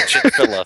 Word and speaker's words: Chick-fil-A: I mean, uh, I know Man Versus Game, there's like I think the owner of, uh, Chickfila, Chick-fil-A or however the hell you pronounce it watches his stream.